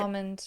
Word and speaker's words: almond: I I I never pronounce the L in almond. I pronounce it almond.